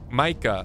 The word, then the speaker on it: Micah: know it's pronounced Micah oh Micah M okay okay I won't remember that though not M Crimson I have Marland I tried listen I tried Micah like drop the mic well tell mic well